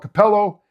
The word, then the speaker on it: Cappello: I'm English, but I did I did do a little research and realize it's called Capello and Luca. You got to pronounce because there's two C's.